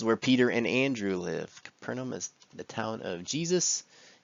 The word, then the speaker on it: Capernaum: Day 9, Capernaum or Capharnaum. I don't know why it's pronounced that way.